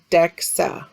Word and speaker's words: DEXA: the abbreviation dxa dexa is an acronym that is pronounced dexa next we have electromyography